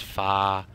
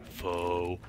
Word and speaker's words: pho: Some people say you should pronounce it pha. Some people say you should pronounce it pho. I think it's pronounced pho.